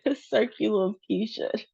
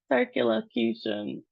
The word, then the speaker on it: circumlocution: So, let's And the emphasis is on the q part of the word lower emphasis on the beginning. So, let's try it. Circu locution. Circum Circumlocution. Circumlocution.